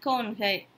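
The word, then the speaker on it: कौन: அவர்கள் யார் அப்படின்னா வே கோன்கை. வே கோன்கை அப்படின்னா நம்ம உச்சரிப்பில் வந்து கவுன் அப்படின்னு எழுதியிருக்கிறோம், ஆனால் வாசிக்கிறது நம்ம ப்ரொனவுன்ஸ் பண்ணுறது கோன் அப்படின்னு தான் வாசிக்கணும். அடுத்து உங்களுக்கு என்ன வேண்டும்.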